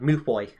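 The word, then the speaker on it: Mewfeuille: I always remember it now, as it sounds a lot like Malfoy. It's like Mufoy.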